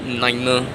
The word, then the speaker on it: niner: be pronounced as fiver, niner. You can do that too. You can add R behind 5 and R behind 9, so it becomes fiver, niner.